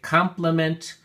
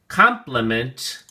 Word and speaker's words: complement: Word of the Day, Complement, for Week 3, Quarter 4. Let's take a look at your flashcard. Complement has 3 syllables, and the emphasis or stress is on the first syllable, com.